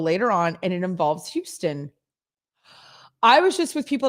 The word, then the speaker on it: Houston: guys kept calling it houston which is how they pronounce it in new york because they have houston street and i was like